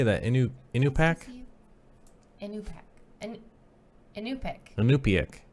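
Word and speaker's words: Iñupiaq: Inupiaq.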